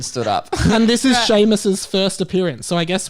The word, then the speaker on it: Seamus: still and quiet ron weasley hermione granger and seamus finnegan sheamus oh i never read that right are you